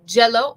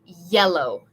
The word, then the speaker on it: yellow: So, we don't want to say jello. We want to say yellow.